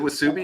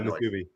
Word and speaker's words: musubi: Is it Wasubi? Is that how it's pronounced? Yeah, Musubi.